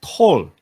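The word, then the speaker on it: Toul: it's it's funny because it's pronounced tall and every time it sounds like when my parents say Paul Paul so I kept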